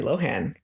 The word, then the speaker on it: Lohan: out that it's not the h is silent lindsay lohan yeah weird